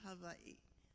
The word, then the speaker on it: Hawaii: Actually, it's okay to say Hawaii and Hawaii. Locals say Hawaii. Hawaii. That's why there are two I's.